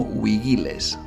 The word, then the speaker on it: vigiles: los romanos los llamaban vigiles Bueno en realidad en latín clásico se le pronunciaría algo así como wigiles y aquí tenemos que